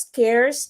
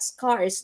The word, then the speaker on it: scarce: already the scarcity uh by the way you pronounce it as scares not scars now you don't say